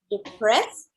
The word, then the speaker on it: depressed: depressed depressed depressed yes we don't pronounce the e depress depressed yes i am when i feel sick or depressed i eat maybe some